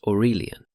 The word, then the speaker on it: Aurelian: Enter Aurelian, pronounced Orurelion.